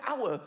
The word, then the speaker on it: hour: why is the word hour spelled with an H why is there an H the silent h nobody has ever said I'll see you in a hour I'll see you in